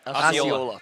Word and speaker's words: Osceola: Osceola.